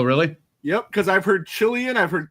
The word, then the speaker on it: Cillian: Ziggy says Cillian Murphy in the next 2.